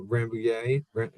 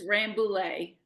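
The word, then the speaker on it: Rambouillet: Rambuier Ramlet. Nope. Do you pronounce the L or do you do it like a Y? It's Rambule. Rambule. Okay.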